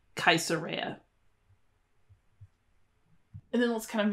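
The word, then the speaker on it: Caesarea: sound Noah cartago tingi this is spelled cesaria but it would really be like kaisera and then let's kind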